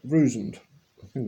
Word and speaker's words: Vruzend: 18 650 cells and a solderless Connecticut from Rouge and that's how you pronounce it anyway the kit has little plastic